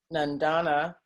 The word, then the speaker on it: Nandana: Okay, our next question comes from Nandana. I apologize if I'm saying your name incorrectly. She is currently at Fordham University. Nandana, come on, go ahead and ask your question. Hi, no, your pronunciation was correct.